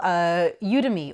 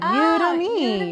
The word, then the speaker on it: Udemy: And then we get our wonderful Udemy or Udemy. I'm actually really not sure how it's pronounced.